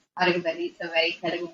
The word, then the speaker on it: Alugubelly: So I'm Alugubelly. That's the last name. Alugubelly is a very Telugu name.